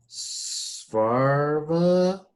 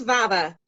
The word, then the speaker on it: Svava: I'm going to say Svarva? Close, Svava.